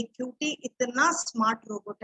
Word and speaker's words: QT: कैसे स्पेलिंग कैसी है क्यूटी का? स्पेलिंग है QT, 2 लेटर्स है QT, बट सुनने में कैसा लगता है? क्यूटी, है ना क्यूट सा.